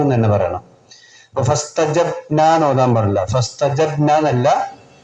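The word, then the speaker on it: فَاسْتَجَبْنَا: അപ്പൊ ഫസ്തജബ്ന എന്ന് ഓതാൻ പാടില്ല. ഫസ്തജബ്ന എന്നല്ല, ഫസ്തജബ്ന. ബ് ബ് ബ ബ്. ഖുതുബുജ്ജദിന് സുക്കൂന് വന്നാൽ ആ അക്ഷരം നല്ല വെളിവാക്കി തന്നെ ഉച്ചരിക്കണം. അപ്പൊ ഫസ്തജബ്ന എന്ന് ഓതാൻ പാടില്ല.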